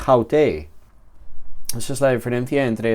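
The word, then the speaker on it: αὕτη: En ambos casos hay un acento en la segunda vocal del diptongo, que es donde debería estar. El acento aquí en hutos es un circunflejo y aquí en haute es un acento agudo.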